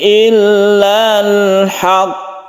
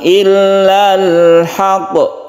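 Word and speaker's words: الحق: itu berbeda cara membacanya kalau bertasydid maka kita tasydidkan dahulu baru kita pantulkan jadi cara membacanya yaitu alallahi illal haqq jadi ditasdirkan dahulu ditahan baru kita qalqalakkan atau kita pantulkan tidak langsung illal haqq itu bukan seperti itu tapi ditasdidkan dahulu illal Haq baru dipantulkan jadi harus jelas tasidnya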